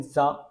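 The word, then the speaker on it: ざ: pronounced as Z line it won't be sa it will be then za Then t line will be pronounced as d line.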